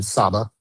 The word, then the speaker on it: Saba: Saba or Saba, do you tell me how to pronounce it? Good morning, Your Honor. It's Saba, and I represent the plaintiffs WW Aviation, Joe Dumont, and Jet Pros.